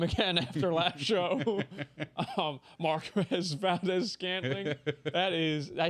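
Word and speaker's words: Marquez Valdes-Scantling: Marquez Valdez Scantling.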